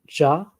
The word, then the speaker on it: Xia: Typically, you pronounce that like she. Okay. But yep. Yeah. Approximately 2070 BCE. How'd you say it? Jia?